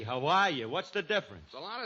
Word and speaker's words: Hawaii: Havaii. Hawaii. What's the difference? A lot of difference. One is pronounced vit and the other with a w.